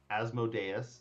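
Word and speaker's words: Asmodeus: the Onyx horns were asmodus asmodus is the correct pronunciation lord of the nine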